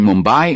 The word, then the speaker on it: Mumbai: The Moratti pronunciation Mumbai is the orthodox one.